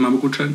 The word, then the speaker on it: Mapu Kutran: instagram es mapu kutran la película es map kutran como le explicamos pero se escribe mapo kutran con k y el de la